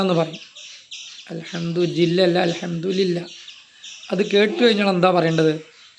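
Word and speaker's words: الحمد لله: മർഹമത്തും നൽകട്ടെ എന്ന് പറഞ്ഞാൽ അർത്ഥമാക്കുന്നത് ഒരാൾ തുമ്മി കഴിഞ്ഞാൽ അൽഹംദുലില്ലാഹ് എന്ന് പറയും അൽഹംദുലില്ല അല്ല അൽഹംദുലില്ലാഹ് അത് കേട്ടു കഴിഞ്ഞാൽ എന്താ പറയേണ്ടത് ആളുകൾ പറയും അല്ലഹമുക്കള്ളാഹമുക്കള്ളാ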